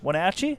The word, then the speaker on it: Wenatchee: Wenatchee? That's how you say it.